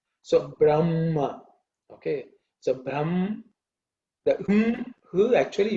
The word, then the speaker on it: Brahma: shawnaka section says that her should be pronounced as a chest sound so brahma okay so brahm who